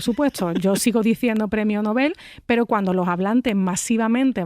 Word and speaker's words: Nobel: Se dice Nobel o novel de literatura. Pues la pronunciación recomendada es novel aguda, o sea, novel igual